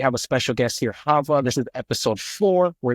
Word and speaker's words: Chava: said my name is Hava it's spelled with a CH so yeah everyone mispronounces it all the time but it is pronounced Hava C is silent and